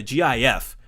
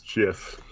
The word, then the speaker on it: GIF: I think it should be GIF, but I think the original intention was GIF.